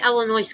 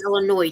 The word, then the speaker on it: Illinois: See, I go to say Illinois cuz you got the yes on the end. But you go to Illinois, don't you?